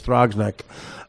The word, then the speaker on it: Throgs Neck: rubber necking with Roger yes Rock thr OGS Throgs Neck underneath that is the Merchant Marine Academy and